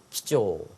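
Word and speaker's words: 貴重: 기조, 신조, 손조. 정답은 몇 번? 쪼라고 읽어야 되고요. 앞에는 귀할 귀자는 점점 요소가 없이 기조.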